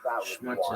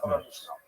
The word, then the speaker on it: Schmutz: Schmutz is a Yiddish word Because that means every dirt or drop grime.